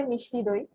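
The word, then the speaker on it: মিষ্টি দই: How do you pronounce? Yeah, we say mishti doi.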